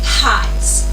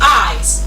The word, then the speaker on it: eyes: Another word is eyes. People say highs. Highs. But it is not highs. Highs. It is eyes. Like as in ICE.